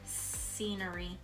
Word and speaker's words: scenery: Remember there's a silent letter in there. Rewrite it next to it how you think. Scenery.